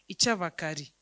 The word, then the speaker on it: Chavakali: And like if you're saying the name Chavakali, you write it Chavakali, but when you're pronouncing it, it is Ichavakari. So that L turns into R.